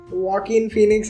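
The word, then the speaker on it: Joaquin Phoenix: उसके अलावा अभी फेमस मूवी जोकर, उसमें तो क्या एक्टर का प्रोनाउंसिएशन है उसके नाम, वॉकिन फीनिक्स है उसका नाम, तेरे को हमेशा में करेक्ट करता है। तो कैसा हुआ कि वॉकिन फीनिक्स has been a vegan for a really long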